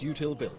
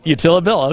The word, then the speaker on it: YoUtilBill: And pronounced YoUtilBill. YoUtilBill, okay.